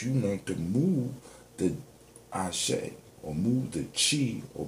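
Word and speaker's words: Axé: That's from me dealing with Capoeira, because in the way they spell it in Brazil is A-X-E with a dash over, because I guess the X makes like a chi sound. So it's Ashe.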